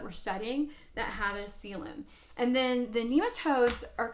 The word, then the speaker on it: coelom: have what's called a coelom and you wouldn't know there's the word spelled out you pronounce it kind of sounds like ceiling but it's CLM and a coelom is